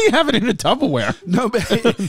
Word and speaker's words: Tupperware: saying say it again tupperware say it again slow tupperware slow very slow first say the first syllable tub wrong what do you mean